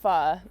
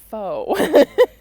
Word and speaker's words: pho: note here is that this place is spelled p-h-o which is pronounced fu not foe lots of people think that okay if you pronounce it poe all right i'll forgive